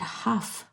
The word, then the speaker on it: Hugh: And Hugh, I mean, if anybody were to read that, you'd say Hugh. Well, I met a person the other day and his name is Hugh, but he pronounces it Huff.